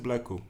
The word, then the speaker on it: Blaakow: So yeah, but guys, just Blaakow. Okay, the W is a customized, it's like a H that you don't pronounce.